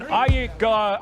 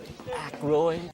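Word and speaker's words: Aykroyd: Chevy Chase, Gilda Radner, Dan Iyek, how the fuck do you pronounce this? Ackroyd.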